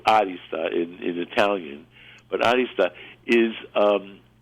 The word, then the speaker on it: arista: I put the accent on the A, like arista, because it's actually a Greek word, and those of us who went to high school in New York City will remember that we had a club called Arista, as we pronounced it, Arista.